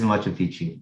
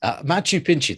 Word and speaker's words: Machu Picchu: That is Machu Picchu, yes. Machu Picchu, that's how it's pronounced.